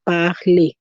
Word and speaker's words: parler: I'm saying A because the last letter is an R, and so I pronounce that E, and we saw E is a vowel sound. We saw that letter E, you pronounce it as the vowel sound A. That is why I'm saying parler.